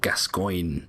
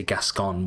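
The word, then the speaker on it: Gascoigne: um this guy so this guy is called gascoin gascoin uh and I always I always enjoy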